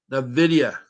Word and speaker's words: Nvidia: N dividy the N the video Nvidia I'm trying to say it right it's a